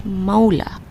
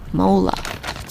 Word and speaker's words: Måla: the correct pronunciation is Måla. According to her, any A that has a little O on top is pronounced as O, so Måla.